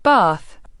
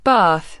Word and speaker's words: bath: The vowel sound in some words changes depending on which side of the Atlantic you're on. British, bath, right pointing arrow, b theta, long, a sound. American, bath, right pointing arrow, ba theta, short, a sound.